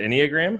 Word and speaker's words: Enneagram: Say, how do you pronounce that? Is it Enneagram?